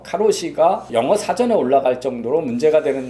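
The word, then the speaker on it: 過労死: 해서 죽어서 바로 살을 일본식 발음으로 가로 시 라고 해서 가 루시가 영어사전에 올라갈 정도로 문제가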